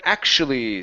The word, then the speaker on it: actually: Next up, we have the word actually. So here, we want to pronounce a K sound, ak. Okay, then we're going to switch this to sort of a CH or an SH sound.